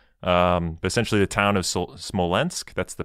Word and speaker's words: Smolensk: word for it um essentially the town of smolensk that's the pronunciation i i'm leaning to you nathan for